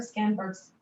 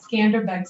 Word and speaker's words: Skanderbeg: testament to um albania's history and the square skenberg's uh i'm sorry i'm saying it we both professor nelson and i both said we've got to really make sure that we do our albanian pronunciations well today skanderbeg square now stands as a testament to tirana's